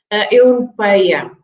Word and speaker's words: Europeia: And then we have on Europeia this EI that always makes difficult the pronunciation for British with the EI, right? Europei, it's a sound A, and sometimes people struggle with that sound. A. Europeia.